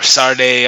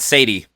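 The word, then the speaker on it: Sade: have shot a or sarday I don't know so many people weren't pronouncing this so differently the last 30 years um not Sadie yeah not Sadie I think said he's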